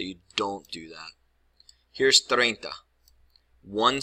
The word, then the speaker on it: treinta: pronounce this correctly first if you would spell it like this remember what I said about the IE that would make the sound tree enta and that's 100% wrong